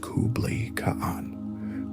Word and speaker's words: Kublai Khan: The contenders were Mongol's two younger brothers, Kublai Khan, pronounced Kublai Khan, who was successfully directing the war in the